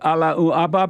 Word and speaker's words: Allahu Akbar: And do you love the Allahu Akbar people? You gotta say it the right way. What do you mean? You've always pronounced it wrong.